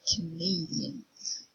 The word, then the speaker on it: Canadian: Tyrion Bulgarians and here Canada the stress in the countries in the first syllable Canada but here in the nationality it's gonna be Canadians and you see the apostrophe goes before name so you know that name is the stressed syllable Canadian and we have